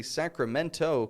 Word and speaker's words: Sacramento: Did you hear that? I didn't say Sacramento, California. A lot of people living in Sacramento, California. And you may travel there someday. And so make sure you can say it right.